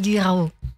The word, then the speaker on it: Guirao: Bonjour Guirao. Si c'est Bonjour. comme ça que ça se prononce, C'est ça, Guirao.